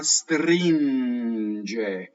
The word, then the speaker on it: stringe: Notice that the GE is a soft G because of the vowels. There are soft vowels and there are hard vowels. So it's the vowel that makes the G hard or soft.